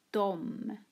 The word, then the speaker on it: dem: D, dem, uttalas dom.